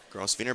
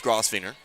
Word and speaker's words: Grafer: foul and two here grer back to the line here grer apologies I'm confused by the PA man I know in my heart it's grafer they have been saying it wrong here tonight we're actually going